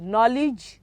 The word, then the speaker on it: knowledge: thy silence in that word to k-l-o-w l-e-d-g-e knowledge which of the letter is silent okay three s-o-l-e-m-n m s-o-l-e-m-n okay that